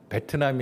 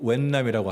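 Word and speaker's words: Việt Nam: 인도차이나에서 제일 사랑했던 나라가 베트남이 아니라 V 발음이 아니고 웬남이라고 하더라고요 베트남 베트남은 못 알아들어요 웬남이라고 해야 돼요 웬남의 너무 사랑하고 캄보디아를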